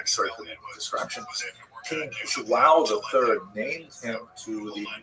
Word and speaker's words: João: I used to think it was wow, like when the baby was born, the mother would say, wow, it's a boy, but it's actually João.